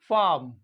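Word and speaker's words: farm: practice कर लेते हैं एफ ए आर एम फार्म British English F ए आर एम फार्म बिल्कुल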